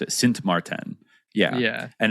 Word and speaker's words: Sint Maarten: Sint Maarten.